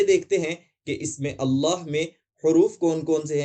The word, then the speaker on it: اللہ: تلفظ کیسے ہوتا ہے۔ اگر اللہ سے پہلے زبر، پیش یا سکون ہو تو ہم اسے مکمل طور پر موٹا ادا کریں گے، جیسا کہ ان اللہ